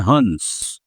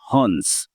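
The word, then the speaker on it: Hanjis: है जिनको बोलते हैं हंस written as हंजस but pronounced as हंस।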